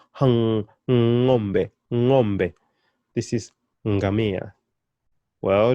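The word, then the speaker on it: ng'ombe: It's not ngombe. Hapana. No, it's not ngombe. It's ngombe. Hang. Ngombe. Ngombe.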